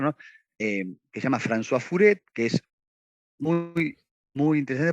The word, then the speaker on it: Furet: Furet sería, pero se dice Furet, se escribe Furet.